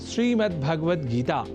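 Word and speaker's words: श्रीमद्भगवद्गीता: यह शब्द ही है जैसा कि मैंने उच्चारण किया श्रीमद् भगवत गीता जिसे अनवत वश हम श्रीमद् भगवत गीता या श्रीमद् भागवत गीता या भागवत गीता कर जाते हैं जो सर्वथा अशुद्ध है इन उच्चारण में स्वर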